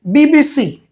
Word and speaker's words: BBC: Then is BBC. So, this is initialism. So, we are pronouncing each letter separately, B B C.